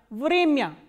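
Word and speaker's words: время: Vremya. Vremya is time. So, here this ya is coming in an unstressed position, that is why it is pronounced as ya, not ya. Vremya.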